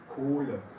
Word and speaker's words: Kohle: Entonces, si después de un vocal viene una H, dentro de la sílaba, entonces tiene la función de hacer largo este vocal. Y no se escucha la H.